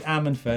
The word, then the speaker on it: Ammanford: Okay, Derek, to help Chris with his local pronunciation, it's actually Ammanford and it's very close to my hometown, so I can help you out with loads of information about that area.